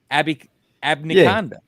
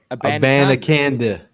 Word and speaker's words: Abanikanda: Is Israel Abnikanda? Yeah. I mean, if you're gonna say it, try it one more time, my boy. Abanikanda.